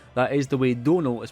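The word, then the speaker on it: Domhnall: that is the way Donal is pronounced it's like tonal but with a d sadly small set would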